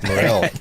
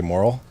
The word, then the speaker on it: Morril: Morril. No one ever gets it right, and I don't like to correct people. What did they say, moral? Moral, yeah. Moral of the phonetically story? it looks moral, but it's not, you know.